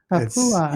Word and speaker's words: Papua: Papua.